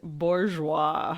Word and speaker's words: Bourgeois: Let me make sure I'm pronouncing this man's name right. It is Brent Bourgeois.